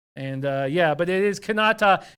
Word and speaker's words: Kanata: yeah but it is kanata is just outside of Ottawa but we do pronounce it Canada could not talk Canada two different places but who cares about